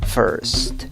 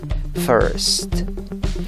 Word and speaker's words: first: como pronuncia esta palabra first first asegúrate de pronunciar la erre la s y la t no te comas